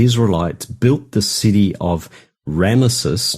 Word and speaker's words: Ramesses: And the Bible also mentions that the Israelites built the city of Ramesses. Now, the statues are Ramses. I mispronounced that, but the city is Ramesses.